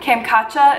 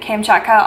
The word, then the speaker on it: Kamchatka: Kamchatka is how the internet said you pronounce it.